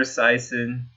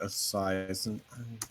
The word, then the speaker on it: Esiason: Randall Cunningham, Jake Delhomme, Boomer Esiason, Jeff Garcia. You want to pronounce that one?